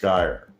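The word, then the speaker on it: scire: In Latin, the origin of these words is the word sire, S-C-I-R-E, should naturally be pronounced skire, S-K sound plus ire, meaning to understand or perceive, coming from the word cognoscere, get to know, acknowledge.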